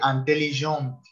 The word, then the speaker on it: intelligente: Cuando agregamos la E del femenino, entonces la letra que anteriormente en masculino era la última, ya no lo es. Por lo tanto, se vuelve sonora.